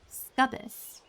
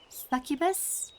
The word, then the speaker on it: succubus: I call them scubbus, but I think it's pronounced succubus.